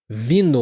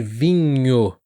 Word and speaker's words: vinho: E alguns alunos acabam também falando vinho, vino. Vino ou vino, ao invés de vinho.